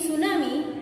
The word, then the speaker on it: tsunami: Here in the name tsunami, T is silent.